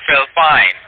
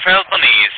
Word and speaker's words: Philippines: We are in country Philpine. I mean, we are Philippines.